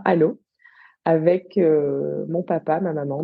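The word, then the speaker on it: Allauch: une petite commune limitrophe qui s'écrit à Loches mais qui prononce bien à l'eau avec mon papa ma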